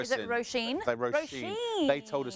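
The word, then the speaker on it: Róisín: It's not Roisin. Is it Roisin?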